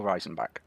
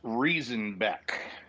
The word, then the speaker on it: Riesenbeck: kyle so yeah so it's reason back it's uh reason as reason back yes i was told